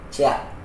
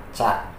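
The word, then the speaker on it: チャ: Ci tambah ya jadi cia. Salah minasang. Ingat, jadi ada beberapa huruf yang pelafalannya berbeda dari temannya yang lain. Ini dibacanya sama ca, pakai h dan a tengah. Ca, co, ca, cu, co. Ca, cu, co minasang. Ada h di tengahnya.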